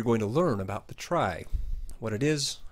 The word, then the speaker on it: trie: Before I start, I should note that the word try ought to be pronounced tree, as in retrieval, but since trees are